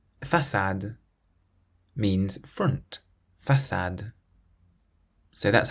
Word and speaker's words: façade: Whenever you see the letter C with a cedilla, that little squiggle underneath it, you always pronounce it like an S, so a S sound.